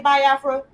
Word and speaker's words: Biafra: this this whole situation with the you say bafra am I saying it right I say bafra I mean people people PR you know a lot of people pronounce it both ways some people say uh